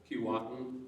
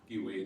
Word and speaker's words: Keewatin: So if you've heard of a town like Keewatin, it should really be pronounced Giwaden, and that means the north.